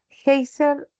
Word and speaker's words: géiser: Geyser es una palabra que sería grave, ¿no?